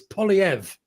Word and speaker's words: Poilievre: Because every time I call him Poilievre, because as you say, Canada's a bilingual, I get told it's Poilievre.